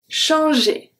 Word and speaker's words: changer: The G turn into a soft G. Simply because we have a E after. Change. And then the ER at the end make the sound E. Changer.